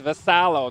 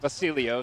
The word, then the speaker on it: Vasalo: It's Vasalo, not Vasilio.